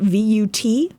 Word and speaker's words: Vut: Well, I got one this morning that said, Vut up superstar, V-U-T, Vut is up superstar. Okay. So it's like German, but they spelled it wrong. That's how you pronounce it, though.